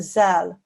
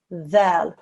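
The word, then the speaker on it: ذال: But this is Arabic, and although the letter looks the same as it does in Urdu, this is Arabic. So the pronunciation is dhal.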